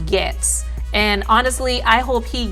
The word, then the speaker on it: Gaetz: spelled Gaetz, and some people pronounce it as Gaetz. It's pronounced Gaetz.